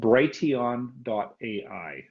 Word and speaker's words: Brighteon: The one that I like the best, and I'll say it and spell it out for you. And so write this down. It's called Brighteon.ai.